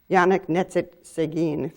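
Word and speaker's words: Yannick Nézet-Séguin: was interviewing a conductor Yannick knit sit Seguin that's the way he pronounces his name and not sure I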